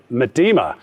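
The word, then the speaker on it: Miedema: with nine goals but it is arsenal's vivienne madima top with 12 goals i think it was your pronunciation but you are correct is that how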